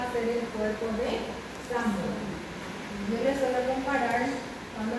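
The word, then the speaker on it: psammoma: Y que también puedo encontrar entre las ramificaciones los cuerpos de samoma. Los cuerpos de samoma. De samoma. ¿Cuándo se van a confundir? Papilar, P con P. Y samoma se escribe con P.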